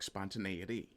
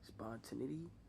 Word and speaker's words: spontaneity: to mispronounce it on purpose but you may pronounce it spontaneous idt it for example because it doesn't really look like spontaneity unless you're aware of you know the linguistic